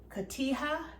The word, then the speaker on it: cotija: And the recipe calls for cotija, I believe that's how you pronounce it, C-O-T-I-J-A, which is